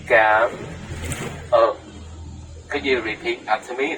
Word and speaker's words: Cảm ơn: they're gonna misunderstand you, please say slowly with smile face. Cảm ơn. If you say very fast, it has another meaning.